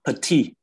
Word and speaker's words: petit: It's petit. We don't pronounce the t at the end.